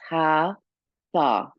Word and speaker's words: Hatha: haa yoga are uh from the two syllables ha tha and ha is the